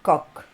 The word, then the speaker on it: Koch: Alors, ça s'écrit Koch, mais c'est Koch.